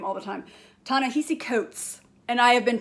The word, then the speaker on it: Ta-Nehisi: Ta-Nehisi Coates.